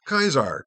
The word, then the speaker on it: Caesar: is spelled c a s a r is pronounced kaisar because the AE is a dipone that is